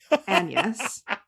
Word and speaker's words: Agnes: slash rumored witch Anus spelled like Agnes but pronounced Anus.